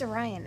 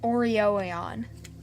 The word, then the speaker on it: Orion: it's pronounced Orion, and they were like... What am I doing? And it just reminded What me. were they saying? Orion? They were saying Oreoion.